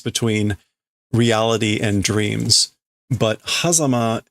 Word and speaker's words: 狭間: But hazama is maybe just like a fancy pronunciation.